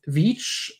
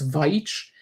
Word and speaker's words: Veitch: I find it so funny that she's pronouncing his name as Vich and then writes it Vich like actually correct I e instead of ei uh because English speakers have trouble differentiating there.